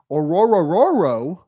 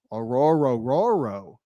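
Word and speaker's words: Orhorhoro: way people are are hating on The Rook aoro but that is how you pronounce Rook aoro that's how you pronounce it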